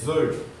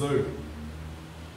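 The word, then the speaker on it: œufs: les côtes levever les ufs les ufs on ne prononce pas on ne prononce pas le F et le S les U les les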